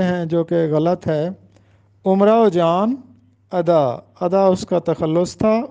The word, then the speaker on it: امراؤ جان ادا: مرزا ہادی رسوا کا ایک مشہور ناول ہے امراؤ جان ادا، اکثر لوگ اس کو امراؤ جان ادا پڑھتے ہیں، جو کہ غلط ہے۔ امراؤ جان ادا، ادا اس کا تخلص تھا، امراؤ جان اس